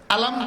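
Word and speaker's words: أَلَمْ: এক জায়গায় উচ্চারণ হরফের, আরেক জায়গায় উচ্চারণ হরফের নামের।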